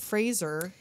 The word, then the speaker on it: Fraser: Fraser yes Adam Sandler you have to pronounce it Fraser as Chaz Darby Chester